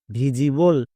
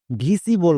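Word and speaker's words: visible: যেমন ভি আই এস Vij plus able. ভিজিবল একে অনেকে ভুল করে ভিসিবল বলে।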